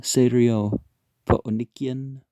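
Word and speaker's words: Syrophoenician: a man in the serial nukian woman you know because you're supposed to pronounce the c's as k's always um jesus appreciates the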